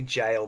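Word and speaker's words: gaol: Goal? Yeah. Yeah, so it's actually jail, but what a disgusting spelling of a word that is.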